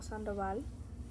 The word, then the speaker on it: Sandoval: But just like pronouncing the L Sandoval, not Sandoval, Sandoval, like in the Spanish kind of like talking-ish.